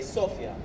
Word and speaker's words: Sofia: So some people say Sofia, some people say Sofia. We locals say Sofia.